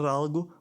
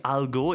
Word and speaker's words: algo: It's not like algo, it's like alg. So how to pronounce like algo? Algo is like something in Portuguese, like alg. I think it's like alg, not like algo. Alg. That is like more swallowing.